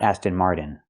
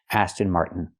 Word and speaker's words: Aston Martin: Stop the air. Mart and fall to the end. Martin. This is the most common way to pronounce it in America. Aston Martin. Not Aston Martin. Aston Martin.